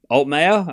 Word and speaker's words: Altmaier: Uh 1540 alt mayor. Okay, so I'm saying it right.